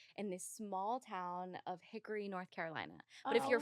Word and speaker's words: Hickory: this small town of Hickory North Carolina but if you're from there you you call it Hickory Hickory it's like two syllables Hickory it's Hickory Hickory Hickory